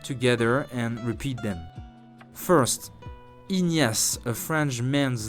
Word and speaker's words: Ignace: First, Ignace, a French man's name. Listen again and pronounce it 3 times. Ignace, Ignace, Ignace.